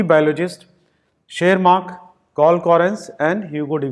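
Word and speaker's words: Tschermak: Student शेरमार्क, इनको बोलेंगे शेरमार्क, T silent है।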